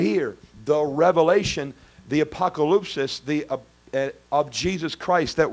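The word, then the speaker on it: ἀποκάλυψις: that word revelation is the Greek word it's pronounced apocalypsis apocalypsis you've heard of the word apocalypse before right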